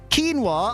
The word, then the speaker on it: quinoa: zero oh my God you just said quinoa I barely know I thought it was quinoa sorry how what no that's what I mean like yeah it's pronounced quino yeah thought it was